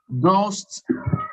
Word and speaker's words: ghost: Ghost, silent H.